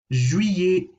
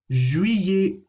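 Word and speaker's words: juillet: over the pronunciation july julie julie you'll notice that the ll here is being pronounced as if it were a y ikrec so this is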